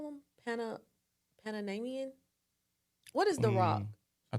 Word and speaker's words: Panamanian: What's the proper way to say it, y'all? Panamanian. Is it? If you're from Panama, not the Florida, but Panama, I really think it's Is it how you Panamanian.